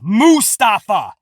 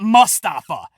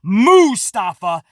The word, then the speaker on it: Mustafa Ali: ali's correct uh pronunciation it is mustafa not mustafa tom phillips pronounced this he's really particular on how he pronounces so it is mustafa not mustafa i hope that makes